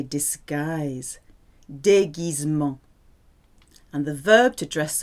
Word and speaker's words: déguisement: G-U-I and G-U-E is a hard G. Because normally G followed by I or E becomes soft, like Gite or Gérard.